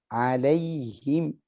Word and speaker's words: عليهم: Bacanya sudah sangat bagus. Kecuali beberapa saja. Dan ini khafi. Ya. Alaihim.